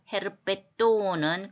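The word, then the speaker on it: ἑρπετόν: 까이 에르가 아니고 거친 순표라서 헤르페톤은 그 기본 단어가 역시 중성명사예요. 헤르페톤 이렇게 뒤에만 조금 짧게 발음하면 되겠죠.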